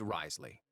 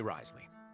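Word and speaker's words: Wriothesley: The name's Risley. Uh, Risley. Zeus. I need to look up the ethmology of that name cuz how do you get Rley from Rasley? I swear British pronunciation is so weird.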